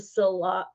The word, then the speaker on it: Sillage: On the top, it says the House of Sillage. I think the L is pronounced like a Y, like, you know, like Okay.